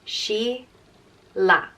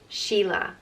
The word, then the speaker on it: Sheila: and it means musical and as pronounced she la Sheila and it can be